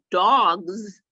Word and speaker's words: dogs: Z okay is it cat has an S on the end but dogs has a z on